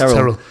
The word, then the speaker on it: Terrill: It's Have I been saying Tyrell or Terrill tonight? Terrill. It is Terrill.